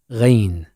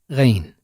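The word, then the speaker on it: غين: here points this is rain the ra it has no counterpart in English but its sound is similar to gargling look at this picture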